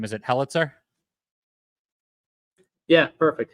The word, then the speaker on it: Helitzer: do you say your last name is it helitzer yeah perfect helitzer most people don't get that right the first